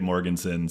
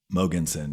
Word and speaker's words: Mogensen: of people make it Morganson so I'm used to it so Morganson Morganson mogenson yeah moon is actually how you pronounce it in Danish which is where my father was born and raised so it's a good